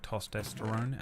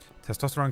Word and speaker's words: testosterone: able I used to always say the word toesterone and then someone would be like, "Oh, you said it wrong." And I'd go, "Oh." And I would never take the piss out of anyone pronounces things, would I, Gary? Um, and the way I remember it is testy testicle. Testosterone comes from the testicles.